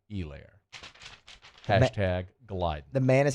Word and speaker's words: Helaire: I just stay silent like the H in Helaire.